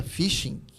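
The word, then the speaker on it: phishing: Eu brinquei pro Rafael aqui, o pessoal que aplica fishing, que não é fishing de pescar, por mais que pronuncia, tem um P no nome.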